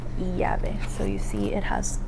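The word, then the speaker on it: llave: Sometimes um you'll hear it like y, sometimes you'll hear it like j. Um, kind of depends on the pronunciation of like the the country that the person's from. Um, so the example for this one is going to be the Spanish word for key, which would be yave.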